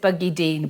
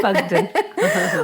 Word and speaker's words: Buckden: at Bugden, or well, how did you pronounce it? I said Buggydeen, but it is Bugden.